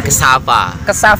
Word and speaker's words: cassava: Cassava. Cassava.